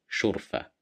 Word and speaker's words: شرفة: Here we have the letter sheen at the beginning of the word, and we have dhamma at the top of the letter sheen, so we will pronounce it as شو شرفة شرفة شرفة.